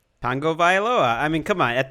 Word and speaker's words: Tagovailoa: Last name pronounced how, Greg? Tagovailoa.